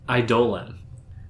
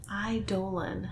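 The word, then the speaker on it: Eidolon: Idolan. Idolan. How do you spell that?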